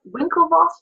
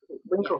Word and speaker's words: Winklevoss: Is it the Winklevoss brothers or the Winklevoss? The first W or the V? First one is W. So it's pronounced with a W, not a Winklevoss.